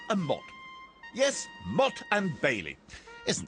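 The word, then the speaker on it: motte: on top of an artificial Hill called a Mot yes mot and Bailey isn't this program instructive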